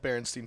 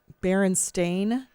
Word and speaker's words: Berenstain: bears berenstein bears right i think we think it's called berenstein bears but it's actually bear steam bears nothing like berenstain berenstain yeah oh christ all right look up berenstein berenstains are they jewish the